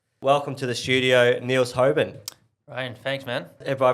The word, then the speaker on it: Hoeben: But the official pronunciation, how we pronounce it in Dutch is Hoeben. Hoeben.